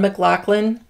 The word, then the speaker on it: McLaughlin: Now, usually, and I know this pretty well, you say that name in that kind of spelling, McLaughlin.